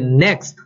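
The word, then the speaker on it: Nginx: 引擎，它通常也是 NextX NGX，这是它的读音啊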